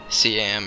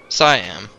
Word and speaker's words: Siam: see you man I I don't know CM if anyone knows what cam or Siam what what Siam wait a minute I think I've heard of Siam yeah I was just pronouncing it wrong like an idiot Siam Siamese perhaps is Siam